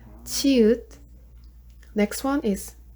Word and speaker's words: 치읒: Next one is 치읒. So this one's like sound, so chair, 치읒.